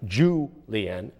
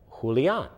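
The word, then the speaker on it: Julián: know his name the there's an accent on the set the a at the end that means it's not julian like ju lien julian julian castro the mayor of san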